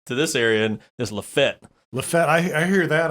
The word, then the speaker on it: Lafayette: ringgold okay yeah so you didn't say it right though you gotta say la fete lafayette but at least it's not laughing yet well that's the proper